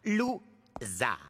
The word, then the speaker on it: Loser: Mon nom se prononce. Lou-.